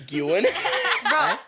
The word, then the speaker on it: Nguyen: I don't know why I always I was Because- saying you Gwen.